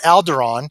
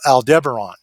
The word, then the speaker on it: Aldebaran: Now, it's not Alderaan, which was destroyed by the Death Star in Star Wars. It's called Aldebaran.